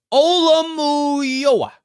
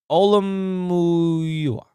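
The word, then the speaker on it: Olumuyiwa: Olamuyoa. Olamuyoa. Wow, that is hard. Can you guys help me? Olamuyoa.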